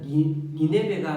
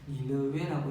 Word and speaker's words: 니네베: 원래는 니네베가 맞는 발음이지만은 우리가 번역할 때 그냥 한국식으로 이게 익숙해져서 니느웨라고 하고 있으니까 그냥 우리는 니느웨라고 이렇게 말하도록 하겠습니다.